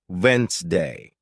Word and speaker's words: Wednesday: it spelled but listening teaches you it's actually pronounced Vince day this helps you speak more clearly and confidently